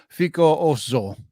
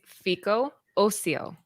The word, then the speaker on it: Fico Ocio: Star Wars, the High Republic Adventures, Quest of the Jedi, Fico Oso. Oh, there you go. Yeah, that sounds better. How do you say, Laura? It's Fico Ocio.